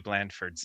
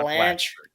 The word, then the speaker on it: Blandford: have been pronouncing Matthew Blandford's name. Oh It's boy. Blandford, not Blanche. Blatchford.